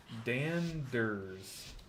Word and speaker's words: Danders: Danders. So it's kind of like dandelion but ers. Danders.